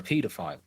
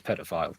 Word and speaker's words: paedophile: or you are a paedophile. I believe the American pronunciation is pedophile.